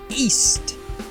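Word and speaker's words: Ys: y series or if i pronouncing it correctly east it's pronounced double e double s and it's actually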